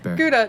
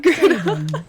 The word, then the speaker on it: Gouda: God damn it, you said it wrong both times. Gouda, not Gouda.